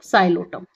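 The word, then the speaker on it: Psilotum: पी इसमें silent है बच्चों साइलोटम।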